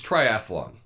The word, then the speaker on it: triathlon: first of which is triathlon okay this is a sport three things you do you swim you bike and your run and it's a pretty simple word it has three syllables it's try atthe lon